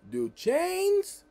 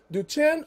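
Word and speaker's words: Duchenne: muscular dystrophy d-n-m-d do chains muscular just well it's do chin or do chain they pronounce it either way that's what i've been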